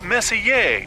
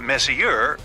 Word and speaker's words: Messier: m43 well young lady the m stands for Messier pronounce Messier not Messier as in is your room messier than mine Charles Messier I mean Messier to be precise was a